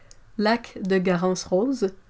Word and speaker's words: lac de Garance rose: Question: how do you pronounce lac de Garance rose, auréoline, and ceruleum in French? Well, like lac de Garance rose, auréoline, et ceruleum.